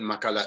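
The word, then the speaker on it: Maccala: Jamil écrit J-A-M-I-L, Makala, M-A-C-C-A-L-A. Je reprends. Je vais un petit peu trop vite. Jamil, ça s'écrit J-A-M-I-L, Makala, M-A-C-C-A-L-A.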